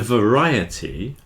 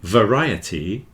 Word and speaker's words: variety: there is stressed but when you've got a ety or it on the end it's always the the the syllable before that that takes the stress in reality Society has